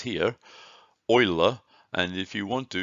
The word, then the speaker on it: Euler: thank him for taken to oiler it is pronounced Euler by the way that's what it says here oiler and if you want to you can listen